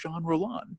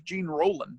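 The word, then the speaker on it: Jean Rollin: I said to myself, who's Jean Roland? Or as I said when I first read, I said, who's Gene Roland? I didn't know how to pronounce it.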